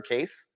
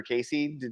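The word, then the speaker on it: Cayce: to read about um Edgar case back in the day or Edgar Casey depending on how you want to pronounce it right yeah I used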